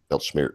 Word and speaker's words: Weltschmerz: Weltschmerz.